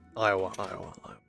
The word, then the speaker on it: Iowa: Iowa.